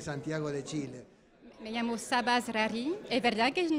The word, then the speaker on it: Sabah Zrari: Y estamos con la doctora en ciencia política, la doctora Sapsab Rara. No sé si lo pronuncié muy bien, pero uno trata de ver,